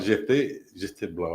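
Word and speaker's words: Gephte Blanc: On a mis on connaît PH là prononcé en français comme F. Exactement. Oui. Well, GFT Blanc, ouais.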